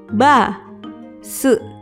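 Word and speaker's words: バス: Contoh lainnya adalah bis yang ditulis dengan katakana jadi ba, su, basu.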